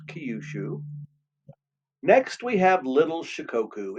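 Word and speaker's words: Kyushu: It's pronounced Kiushu.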